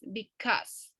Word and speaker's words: because: It's a common mistake, but it's because. Because. Because. Yes. We don't pronounce the U, just is because.